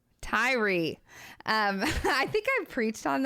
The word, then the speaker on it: Tyre: You pronounced it so much better. How do you say that with the T? Tyre.